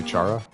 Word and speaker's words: Chara: Yeah, I pronounce it Kara. You say Chara?